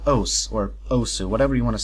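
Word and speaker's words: osu!: That game is called OS, or Osu, whatever you want to say. The correct pronunciation is OS, but I like to say Osu because of my accent.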